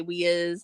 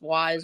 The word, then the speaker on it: Wise: you pronounce it uh sometimes we say we is it's pronounced wise on their commercials so but just like